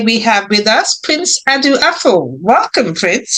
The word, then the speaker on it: Adu-Afful: Today we have with us Prince Adu-Afful. Welcome, Prince. How are you? Good. I'm very well. In fact, you do pronounce my name very well.